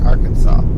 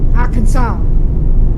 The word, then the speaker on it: Arkansas: Yes, That word you were saying, that Arkansas Yeah. thing, it's Arkansas. Arkansas.